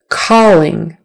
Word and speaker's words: calling: something else but persistence calling calling with a shirt o calling calling um just like also or always before before again with the